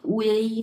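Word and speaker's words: ui: লেখা লেখা থাকবে এরকম চাইনিজ ভাষাতে লেখা থাকবে হচ্ছে এরকম ইউ থাকবে বাট উচ্চারণ হবে হচ্ছে উই হ্যা কেউ হচ্ছে অন্য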